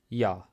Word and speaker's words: Ja: Эта буква выглядит как английская буква J, но она всегда произносится как Я. Йод. Есть слово Я. Это значит да.